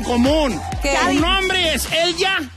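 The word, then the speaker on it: Elya: Me llamo Elja, tengo 39 años y primeramente mi nombre se escribe E-L-Y-A.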